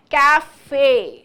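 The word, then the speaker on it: café: तो ई के ऊपर, ये ई वाउल के ऊपर ये जो निशान है, इससे हमें पता चला है कि इसको क्या प्रोनाउंस करना है, कैफे।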